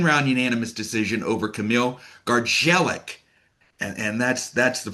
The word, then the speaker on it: Gardzielik: shut out 10 round unanimous decision over Camille Gargelik and and that's that's the proper pronunciation of his name.